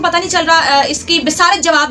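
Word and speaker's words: بصارت: नहीं चल रहा, इसकी बिसारत जवाब दे गई है। ओए आंटी एक तो तुम्हारी प्रोनाउंसिएशन बहुत गलत है, और बस बिसारत नहीं होता बसारत होता है, बाब ज़बर है आंटी।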